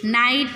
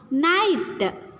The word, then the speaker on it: night: Night. There is no sound for GH here. Night. N-I-T, night. GH is silent here.